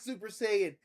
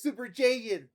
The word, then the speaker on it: Saiyan: How do you say Super Saiyan? It's not Super Saiyan. It's Super Jaiyan.